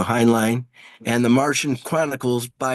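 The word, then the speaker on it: Heinlein: planet by Robert a uh hanling uh in 1949 do you have a better pronunciation thank you hin line and the Martian Chronicles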